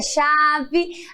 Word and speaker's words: chave: Aí a chave. A chave termina com E, porém tem o som de I.